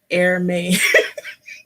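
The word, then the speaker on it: Hermès: I have been telling people that they have Hermes items on another platform, I'm not gonna name it, and it's pronounced Hermes.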